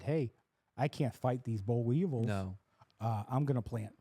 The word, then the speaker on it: boll weevil: A boll weevil? I don't know if I'm pronouncing that. That animal? You think Yep. it's actually pronounced bull weevil?